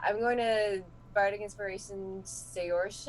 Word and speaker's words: Saoirse: Yeah, I'm going to Bardic Inspiration Saoirse. I never think I'm pronouncing that right. Saoirse. You're close. Saoirse.